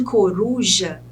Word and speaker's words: coruja: essa palavra de palavra no caso de coruja que a sílaba tônica é Ru é a penúltima sílaba